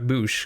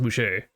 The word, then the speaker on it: Bueche: I realize now that I've been pronouncing that wrong the entire time. I had been saying it Chuck Boosh, because there's no R at the end or accidentally goo, but apparently it is pronounced Boucher.